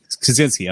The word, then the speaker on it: Kosinski: Is that how you pronounce his name? Joseph Kosinski. Kosinski, okay.